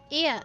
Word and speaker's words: Ia: When the vibration of vocal folds was still required to convey our thoughts and intention, Ia, I believe, was the pronunciation used when referring to our people.